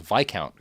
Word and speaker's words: viscount: Yeah, he's he's counted as Viccount Rothmir in this, which is a word I know how to pronounce, even though it's spelled viscount, which is dumb.